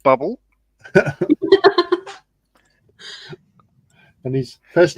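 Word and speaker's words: Bublé: of Michael bé um it is pronounced bubble and his first name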